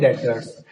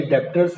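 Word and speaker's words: debtors: इसके बाद आते हैं डेटर्स। डेटर्स, इसमें बी साइलेंट होता है, ये डेप्टर्स नहीं है, ये क्या पढ़ते हैं इसको, डेटर्स।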